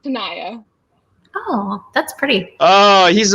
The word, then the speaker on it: Tanaya: check that out brandon my first name though is pronounced tanaya oh that's pretty oh